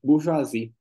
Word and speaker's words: bourgeoisie: Unsere Epoche, die Epoche der Burge, Burge, Burgeoisie, É francês aqui, bourgeoisie. bu- der, como? É, bourgeoisie é Bourge- estrangeirismo que o alemão pega e ele Bourgeoisie. repete a pronúncia, assim, a pronúncia do francês mesmo.